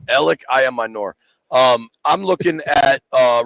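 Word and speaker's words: Elic Ayomanor: the Stanford receiver which I have no chance pronouncing his name say it again El I Amor ell I Amor um I'm looking at a recent article you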